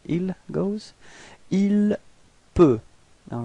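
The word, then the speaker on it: il peut: Ilp. All right. So, same way of pronunciation. You've got T at the end, but then you don't pronounce it. Ilp.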